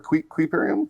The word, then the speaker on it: Kuiperium: Yeah, is it Kuiperium or Kuiperium? Kuiperium is how it's pronounced.